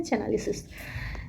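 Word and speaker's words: Chainalysis: यहाँ चैनालिसिस लिखा है, चैनालिसिस कुछ भी आप बोल सकते हैं, इसका प्रोनाउंसिएशन इंग्लिश में है चैनालिसिस।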